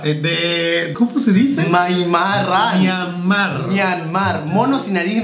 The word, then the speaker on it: Myanmar: Mono sin nariz de Neymar. De... ¿cómo se dice? Myanmar.